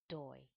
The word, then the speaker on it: doy: F here is the yo form of D pronounced doy d o y add